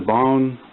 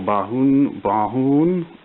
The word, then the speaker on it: Bauhn: So this is the Bauhn or Bauhn, however you'd like to pronounce it, 65-inch Android smart TV with the basically the Samsung operating system.